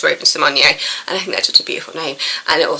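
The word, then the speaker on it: Raven-Symoné: that see it does Raven Symone as we now know her name is pronounced after years of just letting people call her or call her Raven Simone she's admitted that actually it's pronounced Raven Symone and I think that's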